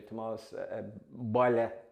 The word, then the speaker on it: Tomas: I'd like to see Tomas Dunqueen, who is the dancer, with Dunqueen, and Tomas, the other Tomas as well, O'Shea, Tomas Boyle, that's the way to pronounce it, by the way, Boyle Brack.